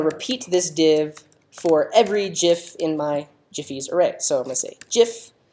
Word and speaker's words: GIF: So so I'll have a div, and I want to repeat this div for every GIF in my Jiffy's array. So I'm going to say GIF with a hard G in Jiffy's.